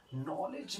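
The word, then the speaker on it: knowledge: कैसे, जैसे जैसे मैंने बोल दिया नॉलेज, नॉलेज में नौ से स्टार्ट हो रहा है, नॉलेज, ठीक है, नौ से स्टार्ट हो रहा है। नौ क्या है, कॉन्सोनेंट साउंड, एन से स्टार्ट होगा, नौ कॉन्सोनेंट साउंड होगा तो अनॉलेज का यूज करूंगा।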